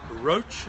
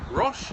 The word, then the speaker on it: Roche: you my name is roach and that's spelled like the medicine brand r o c h e rash if you prefer on r o c h e my email address is HK at saunders.